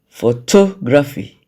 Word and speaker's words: photography: Photography. Photography. The stressed syllable there is to.